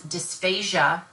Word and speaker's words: dysphasia: dysphagia which is a difficulty in swallowing versus dysphasia which is dys phas I a dissipation if